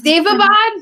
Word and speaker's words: Daevabad: I pronounce it a million different ways when I actually read the words. So I think that's normal for people when they're reading things. I mean, it's Daevabad, but I was one